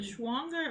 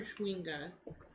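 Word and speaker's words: chwinga: to get it wait is it schwanga or chewinga uh it's ch w-i-n-g-a okay I don't know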